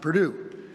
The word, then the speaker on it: Purdue: But from there he was off to Purdue, which is pronounced Purdue, where he excelled in mathematics.